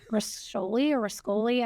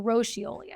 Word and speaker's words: Roscioli: the West Village called, I'm going to butcher how I'm pronouncing this, but Rascoli. I'm totally not saying that. Or Roscioli, I think is actually how you say it.